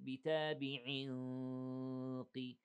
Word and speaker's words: بِتَابِعٍ: have إخفاء, 2 seconds, بِتَابِعٍ قِ, we have what, 2 seconds إخفاء, and remember here, I said بِتَابِعٍ قِ, the sound of the إخفاء is the same sound of the heaviness of the قاف, not all the way,